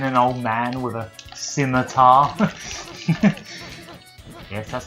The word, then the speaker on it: scimitar: I'm just stabbing an old man with a scimitar. Yes, that's how it's pronounced.